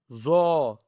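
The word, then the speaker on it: ظ: And then we have Zo. okay, a bold word with the full mouth, okay.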